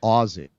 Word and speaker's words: Aussie: is it aie or Aussie how do you say it it's spelled Aussie but some people say you're supposed to say a they would say Aussie right like like Z like a z okay got it got